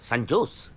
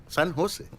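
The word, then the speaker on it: San Jose: ও বাবা, সান জোস? সান হোসে, সান হোসে, হ্যাঁ সান হোসে। জের উচ্চারণটা এইচ এর মতো হবে, সান হোসে।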